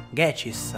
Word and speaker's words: Ghecis: traslitterazioni del nome giapponese, che si pronuncia dunque Gechis, ma che è scritto G-Cis.